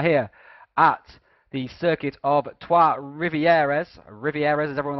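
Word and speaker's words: Trois-Rivières: today we are here at the circuit of Tua rivieres rivieres as everyone like to call it TW Rivier is how you pronoun supposed to pronounce it but it varies amongst the drivers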